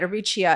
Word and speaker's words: Aricia: I've been saying it wrong. And I think I got it right, Aricia.